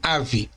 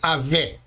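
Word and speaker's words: אב: Simplificando, ela é lida como ave. E aqui significa pai, mestre, antepassado, ancião. Em aramaico nós chamamos de paizinho. O V, que no caso é aqui, no final ele é mudo. Mudo por quê? Porque não tem mais nenhuma vogal embaixo dele. E não deve ser lido como geralmente fazemos em português, ou seja, como se fosse Avé.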